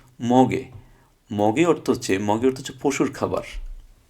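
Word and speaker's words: 먹이: এটা হওয়ার কথা ছিল মক ই, কিন্তু না, আমরা একটু পড়েছিলাম যে বাচ্ছিমের পরে যদি ইয়ং আসে তাহলে বাচ্চিম ওখানে চলে যাবে। সুতরাং এই গিয়কটা এখানে চলে যাবে, গিয়কটা উপরে গেলে তার উচ্চারণ হবে গ। তাহলে গিয়ক ই, গি, মগে।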